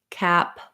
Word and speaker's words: cap: those three words together so pair them with another word to help you for example you could say a cup or some cups that cap so you have that a um or black cap black cap getting that bowel to match and then not a cop or father's a cop just to be able to match that vowel because as soon as